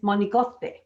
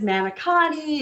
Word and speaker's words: manicotti: on christmas eve and the pronunciation from a true italian is monikose so everybody says manikani and all that just and most people can't even say it that way i struggle to